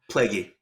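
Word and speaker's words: Plagge: But her name is Callie Plague. I think that's how you say her name. Plaguey. Plaguey.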